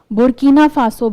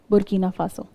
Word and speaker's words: Burkina Faso: If you see Mali ke just niche you have the Burkina Faso border.